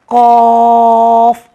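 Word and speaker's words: ق: आप देखते होंगे इसमें फा साइलेंट हो रहा है। कॉफ, हम नॉर्मल पढ़ते हैं काफ, नहीं कॉफ, कॉफ।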